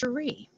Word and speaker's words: Sheree: say your name well my name is a actually pronounced Sheree sh I don't you know